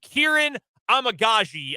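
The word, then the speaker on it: Kiran Amegadjie: Kieran Amagaji, I believe, is a fairly accurate pronunciation of his name.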